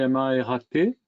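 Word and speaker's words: Marat: Peut-être, oui, j'ai marqué Dolores Mara. Ça s'écrit M-A-R-A-T. Exactement, parce qu'il y en avait.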